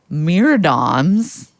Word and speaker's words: myrmidons: Trump and her, quote, unitary executive husband, along with their MAGA myrmidons. That's how you pronounce that?